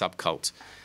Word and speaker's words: SVBKVLT: It's SVBKVLT, but it's pronounced Subcult.